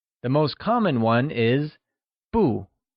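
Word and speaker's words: 不: most common one is Bou which is pronounced with a falling tone we're already familiar with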